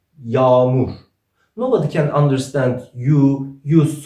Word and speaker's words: yağmur: Let's ignore soft G in this word and let's make "A" double. How did we pronounce A in Turkish? "A". Let's double and read it again. "YAAMUR".